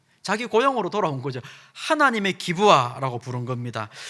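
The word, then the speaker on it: גבעה: 이 산이라고 번역한 이 단어는 히브리어로 어떻게 읽냐면 이렇게 읽습니다. 기브아라고 읽습니다.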